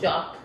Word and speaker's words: Jacques: It was J A C q U E S. Would you pronounce it as Jacques? J A C Q U E S. Jacqu Jock.